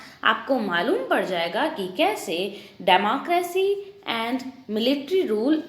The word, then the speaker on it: coup: Democratic rulers हैं इनको कू कर दिया था। अब वापस COUP, पी साइलेंट रहता है, इसलिए प्रोनाउंसिएशन कू होगा।